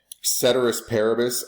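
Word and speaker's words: ceteris paribus: you'll hear a lot um cedus parabus I for Latin Scholars I know that's not how you actually pronounce it in Latin um however that is how every Economist in the world pronounces it um cedus parabus translates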